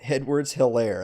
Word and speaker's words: Edwards-Helaire: Clyde Edwards-Helaire. That's how to pronounce the LSU guy's last name.